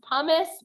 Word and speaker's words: pumice: hear you what yeah I believe it's pronounced pumice but I knew exactly what you said meant when you said Miss hummus and there's actually one